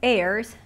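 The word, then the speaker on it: heirs: 파악됐죠 그지 그리고 또 그들의 airs h는 묵음이란 소리 안나요 상속인이라는 뜻이다 하는 거는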